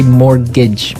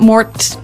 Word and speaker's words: mortgage: with a tee yeah it has a tee in it but you don't pronounce it you say mortgage mortgage so not mort's mortgage not mortgage mortgage